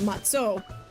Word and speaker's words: matzo: So, um I think the most common spelling that you're going to find is m a t z o which cuz ashkanazis um call it matso which ironically I am ashkanazi but I use the sparty matzah.